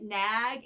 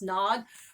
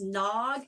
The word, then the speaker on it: Nag: it um a lot of people have been pronouncing it nag and i found out in 2017 from someone in the audience it's pronounced nog but i ended up getting this zine and